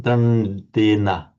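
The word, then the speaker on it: daṇḍena: Dandena. Dandena. Dandena. Right. We'll hear the authentic Hindi pronunciation in a few moments. But this is this distinction between the dental d.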